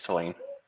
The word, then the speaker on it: Tulane: Is that Tulane or Tulane? yeah, it's Tulane.